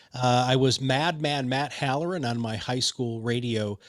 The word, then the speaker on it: Halloran: do you say your last name that hallerin halloran of proudmouth he's a podcast expert all around